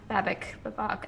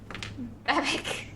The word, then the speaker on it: Babak: Babak. I still don't know how you actually pronounce his name. You were pronouncing it Babbitt in previous episodes. Babbitt! Babak.